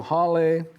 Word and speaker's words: hale: what you want but here in hawaiian the eye is pronounced as e it's an e sound okay so hale like spanish it's even